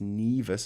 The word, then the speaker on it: Nevis: the islands of Saint Kitts and Nevis it's pronounced Nevis as though it's got too easy even though